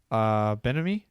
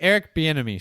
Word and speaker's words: Bieniemy: Benamy? How do you say his name? I'm not sure how to say. Buchanan? Eric Bieniemy, sorry.